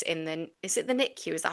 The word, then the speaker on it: NICU: spent 6 years in the Is it the NICU? Is that how you say it? 6 months in NICU, yeah.